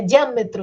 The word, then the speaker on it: diâmetro: deixa esse ar sozinho então ó proparoxítona então técnicas é proparoxítona diâmetro é proparoxítona do mesmo jeito que óptica centímetros também é proparoxítona